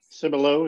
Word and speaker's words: Cibola: Nation walk from the Cibola am I saying it right so below yep say below nature sounds Nature Center